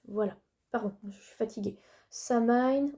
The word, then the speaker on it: Samhain: Samhain ou Samin pour ceux qui prononceraient comme ça.